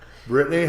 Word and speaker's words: Brittnany: Brittany Hoback. I didn't call her Brittnany, No, you even didn't. though that's how it's spelled. Exactly. Your mom threw that extra N in there, right?